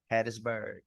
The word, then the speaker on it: Hattiesburg: I'm pronouncing it right is it Hattiesburg Mississippi Hattisburg Hattisburg Mississippi that's where I'm from